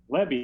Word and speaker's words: Lebby: Is it Jeff Lebby? Is that right? Did I pronounce that right? Lebby, I believe.